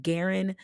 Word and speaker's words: Gerrain: His name is Garen Jones. His first name is spelled Gerrain.